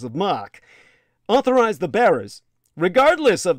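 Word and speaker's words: marque: these commissions letters of mock spelled marquis but pronounced letters of mock authorized the bearers regardless of their country of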